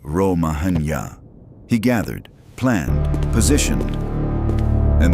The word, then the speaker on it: Romagna: Cesare did not tell anyone he was about to conquer the Romagna, pronounced Ro-ma-nya.